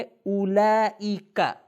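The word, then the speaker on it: أولئك: جو پروناؤن ہمارے درس میں ہے وہ ہے اولئک۔ اولئک، صحیح تلفظ کریں، اولئک، اس کا مطلب ہے وہ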